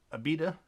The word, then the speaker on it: Abita: to Abita gotta Roy look up how to pronounce my breweries but this is Abita this is a limited edition this is their